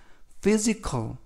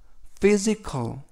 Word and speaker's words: physical: 의미가 되겠습니다 이번 표현은 physical physical physical이라고 발음하시면 되겠고요 이때 PH F 발음이납니다 그래서 phic 품사는 형용사 그요 뜻은